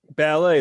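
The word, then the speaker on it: Balet: David's wife, Suzanne, owns, and I might not pronounce this right, Ballet, is that correct, or Ballet? Ballet, like the dancer, just with one L.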